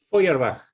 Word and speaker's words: Feuerbach: ¿Cómo se pronuncia, Marcelo? Feuerbach.